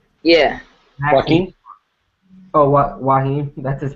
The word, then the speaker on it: Joaquin: Wahim. Wahid. The J is silent.